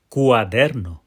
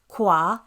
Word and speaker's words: cuaderno: There we see those 3 bouncing syllables again. Cuaderno. And that middle syllable, der, gets the pow. That's our tonic syllable. The word goes up in the middle and then falls at the end.